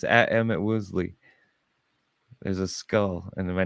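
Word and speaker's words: Emit Woosley: Emmett Woosley. Emmett Woosley, but it's spelled like Emmett. It's EMIT. M-I-T. EMIT. W-O-O. WOOSLEY.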